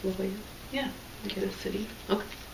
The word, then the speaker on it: La Jolla: You think it's La Jolla? Yeah. Get a city. Okay. That's how you say it. That's how they spell it.